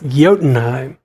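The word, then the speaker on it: Jotunheim: dark building be the jaltenheim did i say that right yotenheim the odin i would always think that odinnine would be spelled with an o it's yotenheim it's a stupid name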